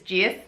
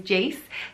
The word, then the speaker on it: Jace: Next is the name Jace or Jace, depending how you pronounce it. In my accent, it's Jace, but it sounds nicer probably as Jace, spelled J-A-C-E, and the meaning of the name is healing.